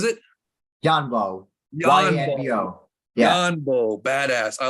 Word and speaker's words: Yanbo: No, Yambo. Was it Yanbo. Yanbo? YANBO. Yeah. Yanbo, badass.